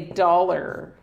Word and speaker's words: dollar: This is a dollar or a dollar bill. A dollar, right? Dollar. Donc, voyelle longue ici, dollar.